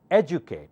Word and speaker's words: educate: so try again educate remember D you in this word sounds like Ju educate not educate educate educate